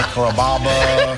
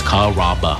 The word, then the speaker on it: Carrabba: Growing up, people always had a hard time pronouncing my name. People chop it up pretty good. You know, Carrabba, Carababa, Caramba. It's a really easy name to pronounce. It's Carrabba. Come to Carrabba's for dinner.